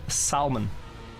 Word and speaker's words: salmon: I made salmon and it was a salmon with a big L. The mo like dude, the language mafia is trying to take out the L from the word salmon. Not happening. We're keeping that.